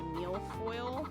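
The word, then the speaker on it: mille-feuille: it gonna beat glue it's pronounced Miele coil and it means a thousand views I will not remember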